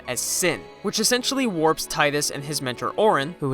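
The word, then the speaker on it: Tidus: the story of Titus Titus you serious it's pronounced Titus whatever I'm calling him Titus a star Blitzball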